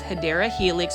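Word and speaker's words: Hedera helix: You can see that this is the first Hedra Helix or the correct way to say it is Hideera Helix or English ivy.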